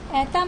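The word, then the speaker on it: это: पे स्ट्रेस नहीं होगा, जैसे कि ऐता में आप देखो ए पे स्ट्रेस है, राइट? और ओ है वो नॉर्मल है, उस पर कोई स्ट्रेस नहीं है, तो ओ को हम ओ नहीं प्रोनाउंस करेंगे, ओ को हम हमेशा आ की तरह प्रोनाउंस करेंगे, आ की तरह उच्चारण होगा।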